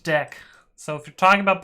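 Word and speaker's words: deque: deck on youtube so python clarifies this in their documentation they're like it's pronounced deck so if you're talking about python it's pronounced deck the name is pronounced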